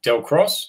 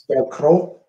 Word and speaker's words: Del Crow: Our bartender Del Cross, is that how you pronounce this? Del Crow. Del Crow.